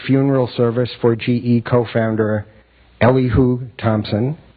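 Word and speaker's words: Elihu: years later the Lynn Unitarian Church was the site of the funeral service for GE co-founder Ellie who Thompson Ellie who is the way Wikipedia says to pronounce it I've always wondered service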